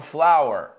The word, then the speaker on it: flour: I wish I had some flour. Ojalá tuviese harina. Remember, we say, I wish I had some flour. Harina se pronuncia como flor.